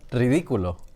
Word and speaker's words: ridículo: This is ridiculous. It's just so good. You're so sweet. How do you say ridiculous in Espanol? Ridículo. Ridiculo. But you have to roll that.